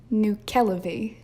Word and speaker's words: Nuckelavee: And this one is called the Nuckelavee, which kind of sounds like Nutella, and I'm going to say it out loud.